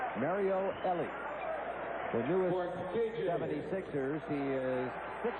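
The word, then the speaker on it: Elie: No. Ellie is how they're going to pronounce it or at least how he wants it pronounced. Mario Ellie, the newest 76ers.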